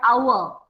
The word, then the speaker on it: hour: is giving an example as in the word hour, H-O-U-R. Though it should be said hour, but we never say it hour, we say it hour, hour. H is not pronounced, H is not pronounced. So in this word, H is silent.